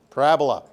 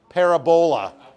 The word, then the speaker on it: parabola: word that I need Parabola Parabola not pronounced parab Abola yeah Parabola I know I